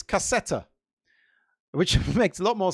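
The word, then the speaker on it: кассета: Turns out it's cassetta, which makes a lot more sense because it is a kind of a cassette. The M is a T sound in Russian.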